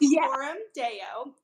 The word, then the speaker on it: Coram Deo: her great conversation points so it's so it's pronounced Corum Deo and Corum Deo is Latin for before the